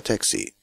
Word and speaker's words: taxi: Engländer sprechen das A fast wie ein deutsches A, Taxi. Amerikaner eher wie ein Ä. Das gilt eigentlich immer beim Lautschriftzeichen AE. Die Betonung liegt hier auf dem T.